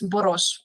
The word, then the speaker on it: Boros: me yeah so um in Hungarian the s is pronounced as like s h so it's boros not b b okayer boros thank